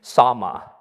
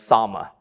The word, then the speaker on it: Salmon: find out that she married a man named Sama. It's spelled salmon. It's not salmon. He's not a fish, but it's Sama.